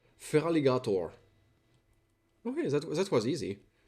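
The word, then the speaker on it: Feraligatr: It It's feral. Feral and alligator. Feraligator.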